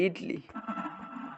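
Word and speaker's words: Italy: ইতলি কেমন ইতালি ইটলি ইটালি ইতালি মানে এটারে ইতালি লেখে ইতালি এটাকে উচ্চারণ করে ইটালি যেমন রাশিয়া এটাকে বলে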